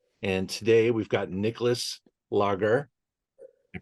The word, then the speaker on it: Langer: And today we've got Nicolas Lager. I pronounce that correct, Nicolas?